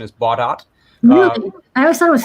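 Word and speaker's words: Baudot: run this uh bot code i learned the pronunciation is bought out i always thought it was french it is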